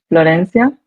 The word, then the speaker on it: Florencia: So, if uh we are to pronounce my name in Spanish in Spanish is Florencia.